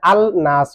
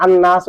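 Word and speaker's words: النَّاس: তো এমনি আল নাস হয়, কিন্তু নুনটা হরফে শামস না, লাম লাম না নুন, নুনটা হরফে শামস কিনা? তো হরফে শামস যদি আসে লাম তো উচ্চারণ হবে না, যেমন আশ-শামসু, আল শামসু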